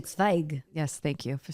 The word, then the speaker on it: Zweig: Well, you know It's actually Zweig.